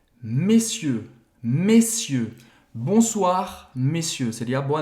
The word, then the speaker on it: messieurs: Qual seria a palavra mais próxima dessa pronúncia errada, messier? É senhores em francês. É messieurs.